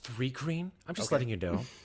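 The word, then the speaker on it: Thri-kreen: It's pronounced Thrycreen.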